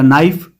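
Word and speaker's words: knife: फिर आगे है बी वाला नाइफ। इसमें के साइलेंट है। के की आवाज आ नहीं रही है।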